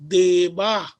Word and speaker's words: देव: But during pronunciation, it is becoming deva. Deva, dirgha should not be told. Deva. Not deva. Yeah. Why not deva? Deva. Deva only. It is Hrasva Akara, one matra kala for pronunciation.